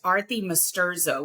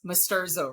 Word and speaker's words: Arti Masturzo: So it's pronounced Arti Masturzo, which, by the way, not a lot of people get the Arti thing right. So that's perfect. And almost no one gets Masturzo right.